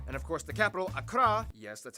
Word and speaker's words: Accra: ho and tamale and of course the capital Akra yes that's how you pronounce it Akra located in the Southeast along the coast the